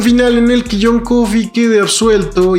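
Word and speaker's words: Coffey: de Kink, el gigante John Coffee, como la bebida. Pero no se escribe igual.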